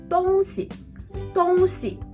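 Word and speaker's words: 东西: But when you change the second character into a light sound, 东西 it means something, things or stuff. 买东西 buy something, buy things, buy stuff.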